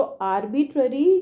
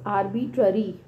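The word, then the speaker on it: arbitrary: नहीं तो स्पेलिंग याद कर सकते, आर्बिटरी बोल देते हैं, तो इट्स नॉट आर्बिटरी, इट्स आर्बिट्ररी, है ना।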